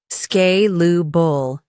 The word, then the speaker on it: scalable: Two scalable spelling s c a l a b l e pronunciation sk lu bull.